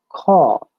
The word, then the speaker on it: caught: have o short of there are two alls example cut the other one is long of example caught see when you say